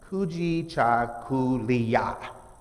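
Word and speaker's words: Kujichagulia: And the pronunciation for that is Kuji Cha Kuliya, which is to define ourselves, name ourselves, create for ourselves, and speak for ourselves.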